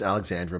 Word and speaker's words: Alexandra: Yes, Milk and Honey, I habitually mispronounce Alexandra because I think of Alexandria, which is in Egypt.